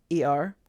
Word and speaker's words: Er: Her sons were E-R, or Er.